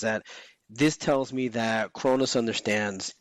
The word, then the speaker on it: Kronos: Am I saying it right? Kronos? Yes, you are.